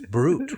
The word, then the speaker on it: Brute: Right, because it's brute, right? But if I give it a Latin pronunciation. Right. Brute.